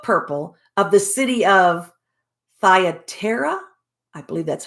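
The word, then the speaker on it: Thyatira: a cello of purple of the city of thyatera i believe that's how it's pronounced thyatera who which worshipped god heard us whose heart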